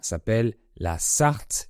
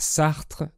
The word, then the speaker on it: Sarthe: القسم اسمه سارث وليس سارتر، مثل جان بول سارتر الفيلسوف الفرنسي، لا علاقة له به.